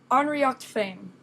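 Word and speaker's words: Ár nDraíocht Féin: that's not what I wanted um it is pronounced unrea Fame which means our own druidism jism in this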